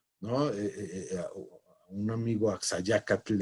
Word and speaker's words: Axayácatl: una tele final como axayácatl no un amigo axayácatl en españa le llaman axa ya que es más fácil pronunciar el dt que te l tengo de hecho algo algunas